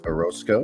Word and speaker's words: Orosco: conversation joining me is my friend here orozco am i pronouncing your last name right yes sir right